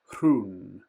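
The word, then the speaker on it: Rhûn: And again, we've got the accent, so it would actually be East Hrun.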